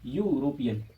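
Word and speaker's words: European: देखो क्योंकि यूरोपियन यू से भले ही शुरू हो रहा है लेकिन उसका उच्चारण क्या रहा है? ये यूरोपियन, ठीक है।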